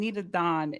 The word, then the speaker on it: Nitadon: So my name, Nitadon, is you ready for this? Yeah. It's really my name backwards. So my name is Donita. And so Nitadon.